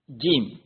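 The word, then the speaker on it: ج: நாங்கள் பார்க்கும் பொழுது அதாவது ஆங்கிலத்தில் நாங்கள் ஜே ஜே எவ்வாறு உச்சரிப்போமோ அதுபோல ஜம்போ ஜெட் இவ்வாறு உச்சரிக்கும் பொழுது இந்த ஜே எவ்வாறு வெளியாகுமோ அதுபோல தமிழில் ஜானா ஜானாவை நாங்கள் பார்க்கும் பொழுது அதை உச்சரிக்கும் பொழுது எவ்வாறு உச்சரிக்கப்படுமோ அதுபோல அரபியில் இந்த ஜீம் உச்சரிக்கப்படும் ஆறாவது எழுத்து ஹே ஹ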